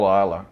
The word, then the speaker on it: Islay: A lot of people mispronounce it as Islay, but it's actually pronounced Isla.